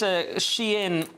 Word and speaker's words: Shein: And she wants this Shein, which apparently is how it's pronounced, company to be floated on the London stock market, Chinese fashion company.